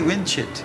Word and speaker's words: Vincit: You can say Vincit. Vincit. It's like a cross between a V and a W.